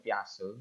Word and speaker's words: Piaget: Ada juga yang dari Mbah Piaget, bukan Piaget ya, bacanya itu Piase.